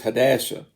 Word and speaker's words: Hadassah: that is Ezra, or in the Hebrew is Hadassah, is how you pronounce the name.